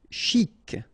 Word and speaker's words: chic: Chic. Okay, you pronounce the final C and then CH together. Sh.